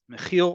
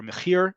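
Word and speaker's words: מחיר: Mechil or mechir, depending on how you pronounce the letter resh, is price.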